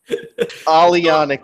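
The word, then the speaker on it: Aglianico: Alianico. There you go. Basically, the G is silent.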